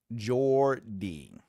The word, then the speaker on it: Geordie: Pronounce Geordie. Jordy.